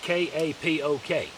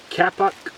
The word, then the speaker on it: kapok: We got a piece of sodal, we've got some oakum, and we've got, this is called, I believe it's pronounced, it's spelled K-A-P-O-K. Anyway, I think it's pronounced kapok.